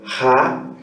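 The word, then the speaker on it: ἅ: nós podemos ver aí se pronuncia como a em cima desse Alpha existe uma aspiração forte junto com o acento agudo se pronunciar ra e ela parece 118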